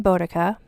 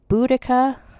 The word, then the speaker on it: Boudica: I'm going to pronounce her name Boudica because that is how I think it's said, although some people pronounce it Boudica.